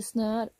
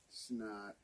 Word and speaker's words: snör: Det snör. Det? What? Snör. Snot. Snot. Snör. Snot. Snör. Snot. Mhm. You gotta roll. There's an R that you gotta roll at the end.